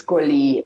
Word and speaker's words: Sxollie: worry you're not first it's schooly like lolly or trolly or darling um i